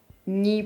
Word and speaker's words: не: Russian as Я ничего не понимаю. Ничего means nothing. So we have two negations here. Ничего не понимаю. Don't understand nothing, literally. The negation particle не is almost never stressed in Russian.